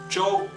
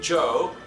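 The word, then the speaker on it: Zhou: is pronounced in opinion the o u should be o instead of the O in English O So j o together Joe that's right it's like the English name Joe with a Chinese accent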